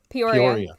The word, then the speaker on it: Peoria: So it happened in, I can't pronounce it, Peoria, Illinois? Peoria.